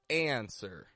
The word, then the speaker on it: answer: friend we want to give this more of a sound like answer without the W the American accent has